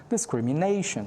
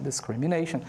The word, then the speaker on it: discrimination: Então, discrimination, discrimination. This is the way that we pronounce it.